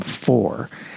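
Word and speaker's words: Faure: Now you spell her last name like the composer for f a u r e. But since there is no accent on the final e as there is in for you pronounce her last name for.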